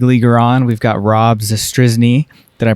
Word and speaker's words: Zastryzny: have another big leager on we've got Rob zne did I pronounce that correctly that's exactly right all right